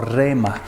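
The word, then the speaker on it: rhema: este en este caso la palabra es rema puede pronunciarlo rema rema es una palabra hablada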